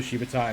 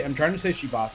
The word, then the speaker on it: Shibata: I'm trying to say Shibata because I'm pretty sure that's right, but I keep saying it wrong.